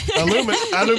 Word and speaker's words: aluminium: Aluminium. That's a premiership. I can say aluminium. Aluminium. Al, like you call me Al.